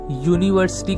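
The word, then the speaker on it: university: यूनिवर्सिटी का pronunciation में सबसे पहले क्या आ रहा है? या आ रहा है। या जो कि हिंदी का या कंसोनेंट होता है।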